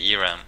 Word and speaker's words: Eramm: pronounce this okay so it used to be Aram right but all the Americans say Iram so I was going